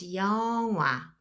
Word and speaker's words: 영화: You can hear that I'm not really pronouncing this, and instead I'll pronounce 영화, a movie.